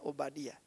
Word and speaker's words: Obadiah: Menurut catatan para rabi Yahudi, putra yang dibangkitkan ini adalah Nabi Obadiah atau yang kita lihat dalam Alkitab Obaja, sebetulnya bacanya Obadiah, the servant of Yahwe.